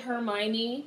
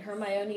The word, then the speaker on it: Hermione: I see always still try to pronounce that name is hilarious with the British accent it's her my mean I'm just gonna go with Hermione I feel like that's fine her my Oney is good it works for me